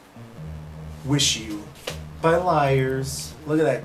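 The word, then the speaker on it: WIXIW: Liars is one of those bands that I never listened to up until late, and their new album, pronounced Wish You, it's apparently very different from their older stuff.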